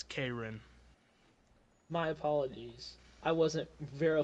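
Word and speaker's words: Caerin: I don't think so how do you spell it c a e r i n well that's okay well that's that's not the pronunciation it's kin my apologies I wasn't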